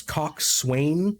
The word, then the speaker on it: coxswain: Yeah, it's coxswain, but it's pronounced like C-O-X''N.